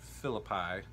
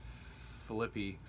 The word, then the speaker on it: Philippi: So Paul is addressing this conflict that's happening in the church at Philippi, or Philippi, however you want to pronounce it. I usually pronounce it Philippi.